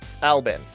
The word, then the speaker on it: Albin: Supposedly, it's pronounced Albin.